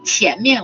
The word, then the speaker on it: 前: It shares the same pronunciation with money. Oh, really? 钱? 钱. That's how you remember it. You can remember it. 钱 and front shares the same pronunciation. 钱. So 前面 would be in front.